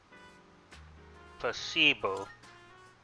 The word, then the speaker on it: placebo: Placebo. The stress is on the middle syllable. Placebo.